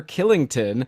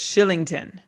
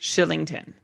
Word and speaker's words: Kylington: a fellow named oliver killington who's a defenseman on the team no it's shillington it's spelled kylington but it's pronounced shillington well that's i thought